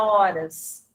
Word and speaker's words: horas: Veja, o H inicial sozinho não tem pronúncia.